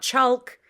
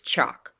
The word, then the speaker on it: chalk: not talk it's talk it's not chalk it's chalk walk talk chalk so